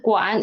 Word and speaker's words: 馆: 美术馆, 美术馆, and please pay attention to 馆. Read it as a half third tone.